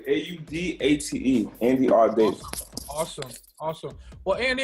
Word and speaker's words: Audate: Did I pronounce that correctly? Is it Audate? You pronounced it 100% correctly. Audate, Andy Audate.